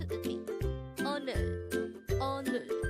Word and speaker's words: 오늘: This is pronounced as a two-syllable word. The first syllable is and the second syllable is nul. Pronounce it with me. 오늘, 오늘.